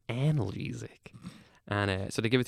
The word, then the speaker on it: analgesic: It's pronounced analgesic, and so they give it to you, and they're like, just press it as many times as you want.